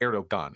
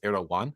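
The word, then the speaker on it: Erdoğan: so so to clarify it's not erog gun it's ero one have I been have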